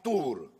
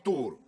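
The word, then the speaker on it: Tours: άγιο μαρτίνο από την τουρ ρς γράφεται απλά είναι η γαλλική πόλη το τελικό δεν προφέρεται στον άγιο μαρτίνο από την τορ η αφιέρωση αυτή δεν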